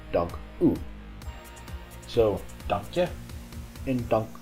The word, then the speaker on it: dank u: Don't say dank you, that sounds a little bit strange. It should be pronounced dank u.